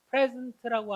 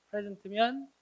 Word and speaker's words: present: present면 현재의란 뜻과 출석한이란 뜻이 있는데 또 얘를 present 강세를 뒤에 두고 present라고 발음하면 제공하다, 제시하다, 발표하다 이런 뜻. presentation 들어봤잖아요. 발표. 그때 동사도 가능합니다. 그때 발음이 뭐다? present. 지금은 어떤 경우 강세가 앞에 나와 있는 present예요. present가 아니고.